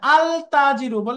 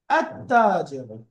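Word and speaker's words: التاجر: কি হবে উচ্চারণের মধ্যে আলতাজির একটু অড লাগে আলতাজ হবে না লামটা সাইলেন্ট রেখে শব্দের প্রথম অক্ষরে তাসদিয়ে মিলিয়ে পড়তে হবে তাজিব আততাজব আততাজব তার মানে তা এটা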